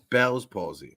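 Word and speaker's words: Bell's palsy: it's it just so people so so it's pronounced Belle's posy okay it is a face paralysis um only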